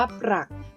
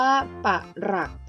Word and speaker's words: ปรัก: ค่ะ ออก เสียง ว่า ปรัก หมาย ถึง เงิน หรือ แรก เงิน การ อ่าน ออก เสียง แบบ ที่ 2 ออก เสียง แบบ อักษร นำ นะ คะ ออก เสียง ว่า ปาก หลัก ซึ่ง หมาย ถึง หัก